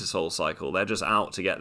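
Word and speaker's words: Psycle: spin class you know i go to cycle and that's spelled p-s-y-c-l-e because you can't just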